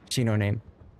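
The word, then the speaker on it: 東雲: Correct pronunciation of Shinonome is, yes, Shinoname. I like to do Shinonome.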